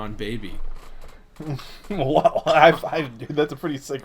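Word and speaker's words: Bhabie: think you're right but i thought it was bad barbie because she it's spelled b-h-a-b-i-e i always thought there was an r in there well sorry dude you're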